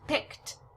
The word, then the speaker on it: picked: past tense verb by adding the Ed it's pronounced picked picked a t sound is